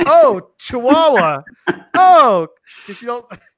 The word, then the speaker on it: Chihuahua: I was like, oh, Chihuahua. Oh, because you don't, I mean, how often do you see it written out? You know, you kind of in your head, you hear it, but so Chihuahua Jill, Cam Majestic 2011, R&M Cachers just came